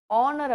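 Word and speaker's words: honour: ஹவர் அப்படிங்கிற போதும், hair அப்படிங்கும் பொழுதும், ஆனர் அப்படிங்கும் பொழுதும் எச் அப்படிங்கிற இது வந்து சைலண்டா இருக்கும்.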